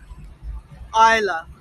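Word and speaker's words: Islay: Queen Victoria's favorite dog Isa I Isa it's spelled is l y come on iy my name is I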